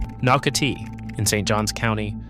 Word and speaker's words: Nocatee: Number 4, Nocatee. In St. Johns County. Say it correctly, Knock-a-Tee.